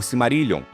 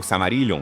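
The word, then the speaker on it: Silmarillion: Seria como o livro dos senhores anéis, o Simarilon ou Samarilhion, dependendo da pronúncia.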